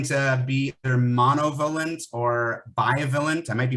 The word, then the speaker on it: bivalent: uh it's going to be either monovalent or violent i might be mispronouncing it b-i-v-a-l-e-n-t that's the more likely type